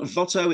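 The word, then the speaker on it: Watteau: wasn't on purpose Anton Votto it's spelled Votto as if with a V because the part of France he came from had once been Dutch and they had Dutch names he lived from 1684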